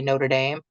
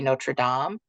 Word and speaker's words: Notre Dame: I forgot to mention at the beginning, the sisters pronounce the congregation in 2 ways. The Midwesterners say Notre Dame, the East Coasters say Notre Dame.